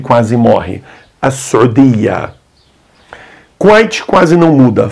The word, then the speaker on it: Kuwait: Kuwait quase não muda. Falamos Kuwait. Alguns falam Al-Kuwait, com L na frente.